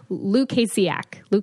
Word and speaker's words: Lukasiak: Lukasiak. No, you're pretty good. It's Lukasiak.